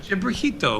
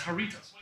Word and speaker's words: Jarritos: Gibrajito or whatever. Yeah, this thing. No, it's regular Fanta. Like that's a different one. No, that's Jarritos.